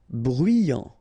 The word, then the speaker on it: bruyant: Bruyant, final T not pronounced, so you get bruyant, okay?